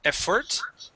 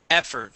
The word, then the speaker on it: effort: Instead of effort, effort. Stress at the beginning.